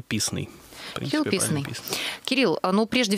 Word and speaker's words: Писный: Правильно я сделала ударение, Кирилл? Или Писный добрый все-таки? День. Вообще, как удобно, но в принципе правильно Писный.